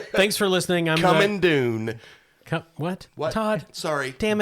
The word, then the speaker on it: Dune: coming soon all right dune thanks for listening i'm coming dune what what todd sorry damn it it rhymes with soon no i get it